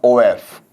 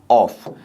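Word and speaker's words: of: ओफ क्या है ओफ मैं ओफ क्यों पढ़ रहा हूं क्योंकि इसका जो उच्चारण हम आमतौर पर करते हैं दोस्तों वो ये करते हैं कौन सा करते हैं आपका ऑफ जो कि सरासर क्या है गलत है इनकरेक्ट होता है इसका जो करेक्ट प्रोनंसिएशन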